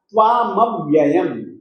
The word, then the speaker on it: त्वामव्ययम्: तो इनका उच्चारण करते समय इन वर्णों के साथ में स्वर नहीं जुड़ेगा और इनका उच्चारण इतना स्पष्ट रूप से हम करेंगे कि बिल्कुल आधा ही मिलेगा। त्वामव्ययम्, त्वामव्ययम्, त्वामव्ययम् बोलिएगा।